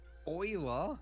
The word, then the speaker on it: Euler: you pronounce that word Euler EULA EULA Euler wow Euler Oiler Leonard EULA all right that's